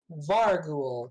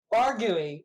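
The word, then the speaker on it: vargouille: I think it's pronounced varou but it's v a r g o u i l l e let's find out actually it's French so you know um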